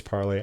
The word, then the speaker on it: Parler: My wife tells me it's Parlay. I don't know. She says in the French, it is Parlay.